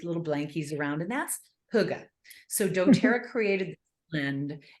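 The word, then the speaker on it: hygge: relaxed homey atmosphere and Huga for those of you who don't know what Huga is it it looks like it should be pronounced higgy right yeah Hy gde is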